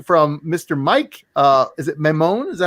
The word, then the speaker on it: Maimone: Is it Maimone? Is that how you say it? Yeah, Maimone. Maimone.